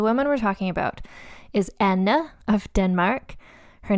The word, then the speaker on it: Anna: So it's Anna. So like my name, but with N at the end, of Denmark is who we're looking at today.